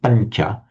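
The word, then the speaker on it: pañca: between the nya of pancha. It's very distinct in something like anya, panya, with a vowel following. It's pronounced like the Spanish, the Spanish N with the tilde, very similar.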